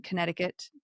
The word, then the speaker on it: Connecticut: They did make a stop in Connecticut to pick up a new assistant engineer. Do you ever say Connecticut when you're trying to spell it? Because there's like a C right there.